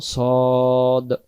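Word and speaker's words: صاد: না তা উদাহরণস্বরূপ দিলাম তাহলে সদ জবর সদ জবর সওয়াদ সওয়াদ এমন হবে না উচ্চারণ নাম সদ এই যে বাংলাতে তাকান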